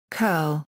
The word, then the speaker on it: cURL: the project FAQ says we pronounce curl with an initial k sound curl see also WG web